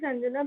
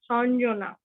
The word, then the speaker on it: Anjana: My name is Anjana. People pronounce with me as Sanjana.